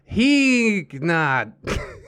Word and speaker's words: Heeknot: Heeknot is a typo of Geekbot that happened a long time ago, so the K isn't silent, but it isn't overpronounced. Oh, Heeknot.